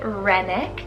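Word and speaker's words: Rennick: from the fjord lands we have renix r-e-n-n-i-c-k renick this one means village then speaking of places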